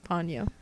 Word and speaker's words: Ponyo: Well, everyone in the movie says Ponyo, except for one guy, played by Liam Neeson, who says Ponyo. So I'm assuming that Liam Neeson just didn't know how to pronounce it, and it really is Ponyo.